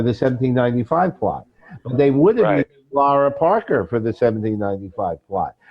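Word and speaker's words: Lara: always have to remember to pronounce her name Laura my Brooklyn accent gives me Lera but it's really that and she was an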